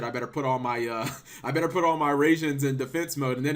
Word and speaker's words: Raijin: Don't see that many Mirror Forces being resolved in a duel, and you don't usually see 5 Raijins summon in a turn. Raijin, there we go, I got the pronunciation down.